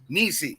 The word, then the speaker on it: Niecy: don't massacred again but she goes by Nissi Niecy okay Niecy yes all right we're good